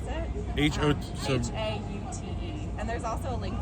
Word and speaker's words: Haute: Brooklyn Hot Dogs or Haute Dogs, however you want to pronounce it. So Haute.